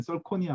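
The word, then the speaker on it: zirconia: 이제 많이 개선이 됐는데 뭐 최근에 지르코니아, 뭐 보통 지르코니아라고 얘기하고 정확하게는 썰코니아 뭐 이렇게 발음하는 건데 걔네들도 좀 불투명해요.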